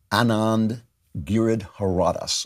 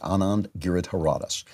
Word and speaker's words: Anand Giridharadas: On MSNBC, a political analyst, a left-wing political analyst, Time editor-at-large, Anand Giridharadas, I'm pronouncing that right, Anand Giridharadas, said that he is surprised at the way people are reacting to Bernie.